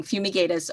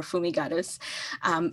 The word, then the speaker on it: fumigatus: related species aspergillus fumigatus depending on where you are pronouncing fumigatus or fumigatus is a human pathogen